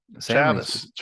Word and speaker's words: Chavis: Chavis. Yeah, Chavis. We learned to say it right.